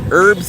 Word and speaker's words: herbs: You do not pronounce the T in tsunami just like you don't pronounce the H in herbal herbs and spices.